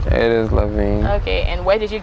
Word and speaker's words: Lavien: Is that the right pronunciation? It is Lavien.